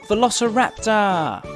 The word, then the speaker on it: Velociraptor: Let's learn all about Velociraptor! How do you say that again? Ve-lo-ci-rap-tor.